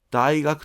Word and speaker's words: 大学: 大学という単語だけを発音したときには、ピッチは下がりません。